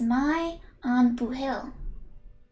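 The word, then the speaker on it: maith an buachaill: or good on you the pronunciation is my on boo hill blue chance and jack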